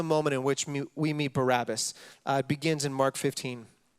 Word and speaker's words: Barabbas: where our brain goes but his name is pronounced Barabbas and as Jesus is led from the Jewish